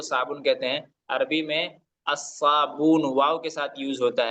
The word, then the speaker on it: الصابون: الاسبع، الاسبع، الاصبع، جی الصابون، الصابون، یہ الصابون ہے، الصابون نہیں الصابون، پڑھیں گے اس کو، صاد حروف شمسی میں سے ہے نا۔ جی جی شمس ہے،